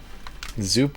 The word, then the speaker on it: Zoop: Zoop does rhyme with soup.